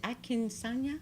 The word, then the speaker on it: Akinsanya: Is it AKINSANYA? That's it. It's exactly the way it's spelled.